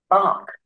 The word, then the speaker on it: embark: Check করে নেই তো, এটা ইমবার্ক হওয়ার কথা না, এমবার্ক হবে, এটা আসলে একটু চেক করে নিই আমি।